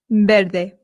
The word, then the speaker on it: verde: Now remember I told you that the V in Spain makes a light B sound. Verde. However, in Latin America, it does make more of the English V sound. So if you want, you can say verde. Verde.